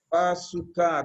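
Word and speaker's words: בסוכה: Bazooka, con acento en la A, porque si la ponen en la U ya es otra cosa.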